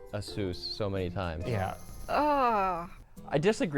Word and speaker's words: ASUS: Okay, who in the fuck pronounces ASUS asses? Like, even when I first saw ASUS, I still pronounced ASUS. I just put a lighter on the U.